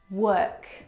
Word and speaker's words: work: a for all of these words word world work if you pronounce or especially for this last one walk